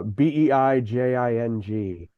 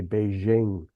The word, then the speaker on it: Beijing: Is uh uh B E I J I N G. A lot of Americans say Beijing. Yeah. But it's it's Beijing.